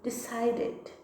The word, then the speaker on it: decided: Então, no passado, a gente também vai falar o E. Decided, decided, decided.